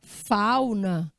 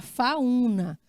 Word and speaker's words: fauna: Fauna não tem acento. Porque aqui você tem um ditongo, fal. Se a senhora colocar um acento, ele vai virar um hiato. Então, a senhora vai ter que pronunciar fauna e não fauna.